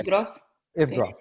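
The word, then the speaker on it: Yevgraf: Yegorov? How is it pronounced? The Alec Guinness character. Ivgrov.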